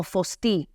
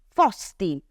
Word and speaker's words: fosti: Quindi mi raccomando alla pronuncia, non è fui o fosti, ma è fui, fosti.